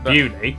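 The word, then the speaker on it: Beaulieu: Starting in Biaulio, Beauty, head over to Rampisham, Ransom, then down to Mousehole.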